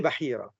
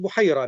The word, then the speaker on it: Bahira: Donc qui était Bahira ? Certains prononcent Bira mais très souvent on dit bahira.